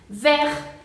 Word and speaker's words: vert: Después tenemos el caso de la T final, entonces la eliminamos y tenemos la palabra vert.